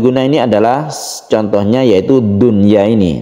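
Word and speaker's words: دنيا: Nun mati bertemu dengan ya dalam satu kata. Maka dia disebut dengan idhar wajib atau idhar mutlak. Membacanya harus jelas. Fid dunya, jelas di dalam membaca nunnya. Fid dunya, dan tidak didengungkan.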